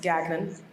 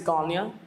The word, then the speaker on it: Gagnon: My family says Gagnon, but that's not right. We kind of gave up on going through all those pronunciations, and we say Gagnon. Ryan Seacrest said Gagnon, so I guess that's what the public knows now. I think the correct is Gagnon, with that French touch.